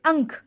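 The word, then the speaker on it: अंक: Next one is ang or Okay, these 2 sound can be pronounced for different words like ang. That is ank. Ank ka. Ang plus ka. Ank. Ank means number.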